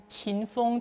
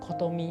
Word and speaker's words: 琴峰: Qinfeng can be pronounced as kotomi in Japanese, so it is a name that is used both in Japanese and Chinese.